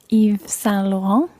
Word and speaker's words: Yves Saint Laurent: The designer is Yves Saint Laurent.